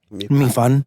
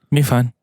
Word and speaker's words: 米饭: 米饭. Mm-hmm. 米饭.